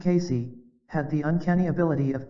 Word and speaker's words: Cayce: discussed in part three Casey pronounced Casey had The Uncanny ability